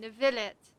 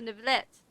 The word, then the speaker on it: Neuvillette: So that's how you say his name, Neuvillette.